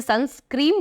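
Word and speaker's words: sunscreen: बहुत सारे लोग इसे सनस्क्रीन बोलते हैं, वैसे सही प्रोनाउंसिएशन है सनस्क्रीन, जो एक तरह का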